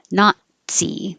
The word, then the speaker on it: Nazi: The same thing with the T. The tongue goes to the T position, not, but not. Nazi. And I put this here to remind you that it just sounds like Nazi.